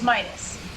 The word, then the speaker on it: Midas: Because I'm playing God of War, one of the portable titles, how do you guys pronounce Midas? It's Midas.